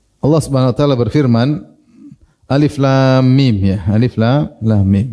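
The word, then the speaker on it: الم: huruf bukan sebagai kata jadi bacanya bukan alam tapi Alif la lam mim misalnya kalau Zaid kita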